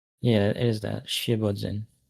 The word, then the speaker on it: Świebodzin: It's a S, I guess it's Świebodzin, but you basically read it right. It's SWIE, right? Yeah. Okay. Like a little thing on top of the S. I can kind of see it. The accent on the S.